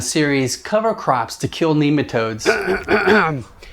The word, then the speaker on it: nematode: And that's the correct way. All right, nematode.